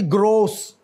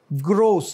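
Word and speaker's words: gross: ग्रोस. ग्रोस, नॉट ग्रॉस.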